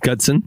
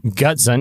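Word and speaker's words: Gutzon: I'm going to spell it for you. G U T Z O N. That's his first name. Gudson. Gudson.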